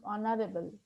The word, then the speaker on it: honorable: So on H is silent over here. You have to pronounce honorable.